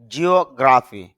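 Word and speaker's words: geography: genuinely অর্থ হল সত্যই জিওগ্রাফি জিও এখানে একটু স্টেজ হবে জিওগ্রাফি অর্থ হল ভূগোল গেট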